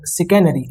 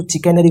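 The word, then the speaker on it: chicanery: इसको सिकैनरी, इसको यहाँ पे जो प्रोनाउंसिएशन स आता है इसको चिकैनरी कुछ मत पढ़ देना, सिकैनरी, ओके।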